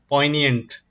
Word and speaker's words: poignant: Our English word of the day is poignant. G is silent.